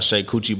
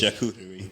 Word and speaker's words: charcuterie: I got a shake coochie board. Whatever, that ain't the right way to say it. Charcuterie.